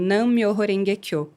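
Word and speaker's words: Myōhō-renge-kyō: Se pronuncia como mi hororengueekô.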